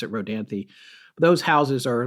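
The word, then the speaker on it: Rodanthe: r o d n t h but we pronounce it rhany those houses are like you can go online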